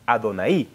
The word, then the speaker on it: Adonai: el nombre de Adonai, no Adonai, hermano, Adonai, acento en la I, para mostrar que dice el Señor.